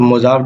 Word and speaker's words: Mojave: कर रहे हैं तो मोजाव डेजर्ट के बारे में आपको पता होना चाहिए। इसका स्पेलिंग है MOJAVE।